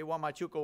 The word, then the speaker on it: Huamachuco: Say Huamachuco with me. Huamachuco. Yeah, it's a different pronunciation, but we are teaming up with five, six sister churches in Trujillo to start a church in Huamachuco.